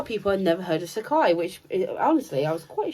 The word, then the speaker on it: Sacai: And it's not hard to pronounce. Sacai. I know, but it's one of those ones I look at. Sacai.